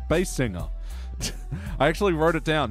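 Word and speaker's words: Basinger: Baldwin and Kim B bass singer I actually wrote it down it's actually pronounced as bass singer right that's how she says it herself Alto tenner Binger he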